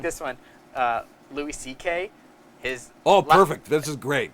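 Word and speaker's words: Szekely: Louis C.K. His Perfect. This is great. This is one, great. His This is last fantastic. name is actually C.K., C.K., yeah. but it's spelled S-Z-E-K-E-L-Y.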